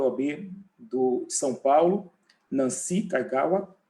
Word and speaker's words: Kaigawa: Começaríamos, então, pela presidente da Comissão de Propriedade Intelectual da OAB de São Paulo, Nancy Kaigawa. É assim que se pronuncia, Nancy?